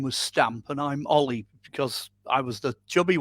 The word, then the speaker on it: Olly: Yeah, it's exactly how it appears. Olly and free.